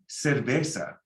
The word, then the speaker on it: cerveza: You see, the C is like an S, like in English, you know, and the Z, you can sound it like an S. But in Spain, if you want to have an accent like they do in Spain, you can lisp all the C's that are soft and all the Z's.